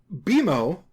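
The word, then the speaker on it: BMO: So, Beimo, pronounced like B E M O but spelled B M O all in capitals, is a sentensient game console that Finn and Jake live with.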